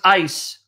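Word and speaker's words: εἰς: The Greek preposition is right there, eis, or if you want to pronounce ice.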